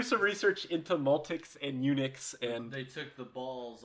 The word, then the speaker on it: Unix: system would later be named unix phonetically unix as in somebody who has been castrated for being a castrated